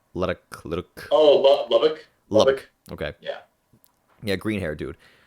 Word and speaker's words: Lubbock: Like I'm so bad at remembering how to pronounce these names because I could like with Luddock. Oh, Lubbock.